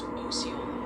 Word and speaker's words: Ola: And hey, the pronunciation overtime tonight's gently reminding us that Oyola, Arkansas is pronounced Oola.